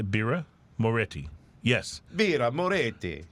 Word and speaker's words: Birra Moretti: Is that how you say Birra Moretti? Yes. Birra Moretti. But Moretti is apparently a common mispronunciation. Moriti is sorry. Moriti is the common mispronunciation.